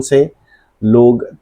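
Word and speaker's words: subtle: एक वर्ड है लिखा जाता है सबटल एस यू बी टी एल इ बट ये बिल्कुल साइलेंट भी इसमें साइलेंट होता है और हम इसको बोलेंगे सल।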